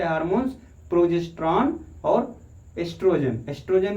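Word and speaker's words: oestrogen: hormones प्रोगैस्टरॉन और एस्ट्रोजन एस्ट्रोजन में ओ सही लिखने हैं लेकिन ओ साइलेंट होता है अब हम लोग पढ़ने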